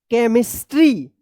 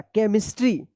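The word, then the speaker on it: chemistry: केमिस्ट्री। सी एच ई एम आई एस टी आर वाई यानी सी एच का यहां पे क उच्चारण होगा। केमिस्ट्री।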